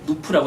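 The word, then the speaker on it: Knoop: 원래 누프라고 해가지고 누프라고 해서 누프 강도라고 그러잖아요. 누프 아드니스. 근데 그 K자가 원래 묵음인데 그거 읽어버려가지고 코노파더니스가 돼버린 거거든요. 사실은.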